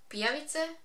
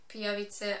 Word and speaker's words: pijavice: most dangerous monsters are pijavice, which I think that's how you pronounce that, because that's how we pronounce it in Croatian. It's a word for leech, and in this story pijavice are some sort of